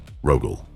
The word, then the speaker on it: Rogal: one of 2 ways, with the soft sign, which gives you Rogal, or with the hard sign, which gives you Rogal. In the second case, the name is pronounced exactly as we pronounce our primarchs, hard on the end. Rogal.